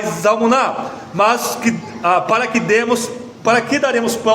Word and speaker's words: Zalmuná: Zeba e Zalmuná, eu estou pronunciando como se fosse o nome hebraico, são os dois governantes ali dos midianitas que fugiram, é rei dos midianitas.